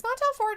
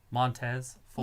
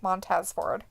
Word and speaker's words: Montez Ford: Is he, or however you say his name? Montez Ford. Montez, that's his name. Montez Ford.